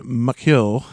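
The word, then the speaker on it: macil: Elmill from the two uh Elish words, Len and Makil, which is star sword. Oh, that's right. Yeah. Elen is star and makil or usually with a C like a hard C uh means sword.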